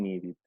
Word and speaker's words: needed: Finalmente, si los sonidos terminan en ED, pero antes hay una T o una D, o sea, estas dos, se pronuncia ED. So we say wanted and needed.